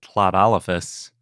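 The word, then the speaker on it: Tlatolophus: 340 and that was CLA olfus oh yeah good job remembering how to pronounce that yeah the lateral frickative just like Welsh so plat olfus is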